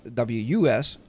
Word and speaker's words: WSUS: I hope you've enjoyed this video tutorial on how to initially install the wasas or was it's wsus or as I pronounce it was wus whatever it's Windows server